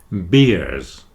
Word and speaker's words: beer: beers with ears so if you remember ear when you say the word beer just remember the image of beers with ears then you'll get that pronunciation correct beers with ears and finally